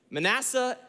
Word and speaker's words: Manasseh: plenty he has two children he names them manessa Manasseh or Ephraim or some say Ephraim Ephraim Manasseh and Ephraim in the proper pronunciation of those words and their names declare